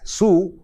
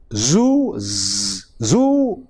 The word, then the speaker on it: zoo: and that is why we mispronounce the word zoo as su and zebra as zebra, whereas it should be, the correct pronunciation is zoo and zebra.